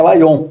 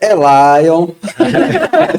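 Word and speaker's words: Elaion: nossa linha automotiva leve é o correto é Lon mas no Nordeste é Elon Elion Elon que confunde muito com leão né L E aí oor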